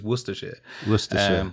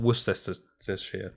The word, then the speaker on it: Worcestershire: there's a real thing there but the correct pronunciation is worcestershire not worcestershire which i hear a lot yeah and so